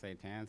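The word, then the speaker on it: seitan: tan it's like pronounced say tan so it's like spray tan without the pr and um yeah so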